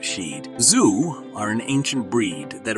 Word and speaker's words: Shih Tzu: these little lion dogs shitsu's pronounced she'd Zoo are an ancient breed